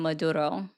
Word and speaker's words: Maduro: I think it's Man, my point is wait, that it's so crazy that like it made you so upset that I rolled my R on Maduro.